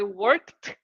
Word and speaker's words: worked: Here, I change the ED and I put the sound of a T. So you have to say, I worked.